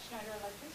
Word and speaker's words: Schneider Electric: How do you pronounce that? Schneider Electric.